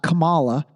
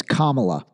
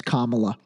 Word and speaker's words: Kamala: to say her name just think Kama and then you'll remember that it's Kamala and by the way